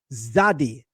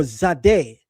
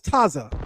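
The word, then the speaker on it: צדי: come to the letter which is called zadi or zade, it'll say right under it TZ. If you never learn with a teacher and you see TZ, then you will think the TZ means I should pronounce it as Taza.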